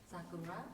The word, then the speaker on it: Sakura: Sakura.